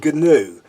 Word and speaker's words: gnu: In the song I'm a Gnu, they voice the silent letters in all the words other than Gnu, to highlight the folly in pronouncing the G in the eponymous animal's name.